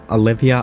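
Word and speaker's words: Alivia: Her name is Olivia Stein, but it's spelt like alive. Olivia Alive, because she is another Frankenstein daughter.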